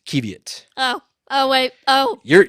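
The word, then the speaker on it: qiviut: hold on hold on is this pronounced kevit or is it keev yet there it is kevit oh oh wait oh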